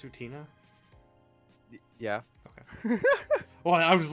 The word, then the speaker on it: Utena: Utna's my favorite. Isn't it pronounced Utina?